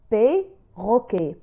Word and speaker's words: perroquet: إذا لاحظتم la lettre e قبل حرفين دو كونسون دوبل فهي تنطق ب اي. بيروكي. ان بيروكي.